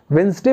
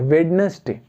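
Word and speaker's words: Wednesday: अगर सही प्रोनाउंसिएशन किया जाए तो इसको क्या बोला जाता है? वेंसडे बोला जाता है। लेकिन कुछ लोग इस वेंसडे को क्या बोलते हैं? वेडनेसडे। क्या बोलते हैं? वेडनेसडे बोलते हैं, जबकि वेडनेसडे प्रोनाउंसिएशन में गलत है, लेकिन बोलते तो वो वेडनेसडे ही है ना।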